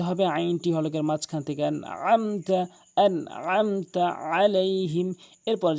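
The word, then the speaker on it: أنعمت: আমতা বলে বলতে হবে আইনটি হলকের মাঝখান থেকে আনমতা আনতা আলাইহিম এরপরে যে মারাত্মক লেভেলের ভুলটি করে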